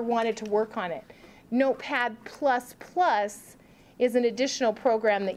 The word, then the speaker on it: Notepad++: Everyone go to your start menu and type in Notepad++, and it's not P, don't spell it out, it's the plus sign. Notepad++.